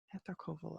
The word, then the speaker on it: Etarcumul: Etarcumul, I think is how I would pronounce that. It's probably different in Old Irish. You maybe would pronounce it Etarcumul, but my modern Irish brain puts a shevu in there, a H.